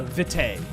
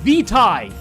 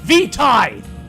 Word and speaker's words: vitae: did um but he keeps calling it uh vitae okay and no it's vitai vitai it's Latin uh we all have that